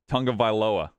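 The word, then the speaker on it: Tagovailoa: or my bold prediction tua tung of viloa which is apparently how it's actually pronounced because you say tongue okay it does better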